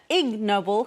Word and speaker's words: Ig Nobel: it's actually pronounced uh IGN Noble and as you can guess it's a play on words of the actual Nobel prizes so uh specifically the IG Noble prizes aimed to reward